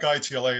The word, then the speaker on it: ITLA: Do you like ITLA, or do you like when people say, spell it out? We like ITLA.